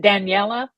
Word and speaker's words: Daniella: Is it Daniella?